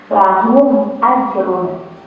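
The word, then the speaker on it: لَهُمْ أَجْرٌ: izhar syafawi ya dibacanya mimnya ini sukunnya Ini dibaca jelas dengan bibir tertutup ya dibacanya Lahu ya Jadi tidak perlu ada dengungnya di hidung ya dibacanya langsung aja dibaca jelas mimnya dibaca jelas tanpa dengung lahum ajrun seperti itu sudah jelas anak-anak sudah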